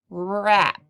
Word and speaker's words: wrap: word is raw I rap and it has a silent W at the beginning that's why we didn't make any sound when we sounded at the beginning part this word rap is